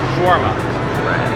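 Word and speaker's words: shawarma: it in Russian but in America you pronounce it shwarma but schwarma is also customary along this line as well especially with Turkish foods, European food, anything like that.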